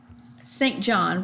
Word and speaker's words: St. John: St. John, which is pronounced, as I said, St. John by the Brits, and I'll try to do that, although it sounds very weird to my American ears, is not just an